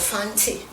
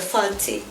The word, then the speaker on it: Fanti: And the language I speak is called Fanti, and it's spelled F-A-N-T-I.